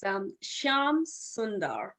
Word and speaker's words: Shyamsundar: It's Shyamsundar. Shyamsundar. See, I've learned it's better to ask than to mispronounce.